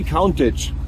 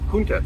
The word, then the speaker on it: Countach: Wie spricht man das richtig? Lamborghini Countach. Countach. Komplett falsch, Lamborghini Countach. Countach. Habe ich immer gelernt im Fernsehen, das war so typisch.